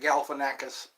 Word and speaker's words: Galifianakis: I like Zach Galifianakis. He says people pronounce his name wrong a lot. It starts with a gal and ends with a kiss.